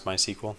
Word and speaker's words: MySQL: get all this stuff how do you pronounce MySQL I say my SQL uh percentage might be